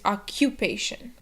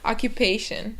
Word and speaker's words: occupation: it you think oh it's a c pronounced like a c but it's actually pronounced like a q sound so it's occupation and remember to stress the syllable before addition occupation i'm sorry occupation would be the correct